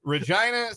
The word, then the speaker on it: Regina: not going to a that's Regina Saskatchewan the town that rhymes with fun you're good Spencer uh